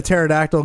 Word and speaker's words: pterodactyl: can't you hear a pterodactyl go to the bathroom why because the P is silent oh Jesus Christ you